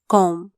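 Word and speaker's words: comb: ए R where कोनो सी ओ एम बी कॉम बी साइलेंटचा सी ओ एम बी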